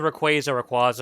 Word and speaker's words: Rayquaza: And then like there's always the Rayquaza argument and the Manaphy.